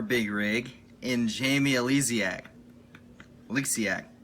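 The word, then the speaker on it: Oleksiak: Eliziac, I'm pretty sure is how you pronounce that.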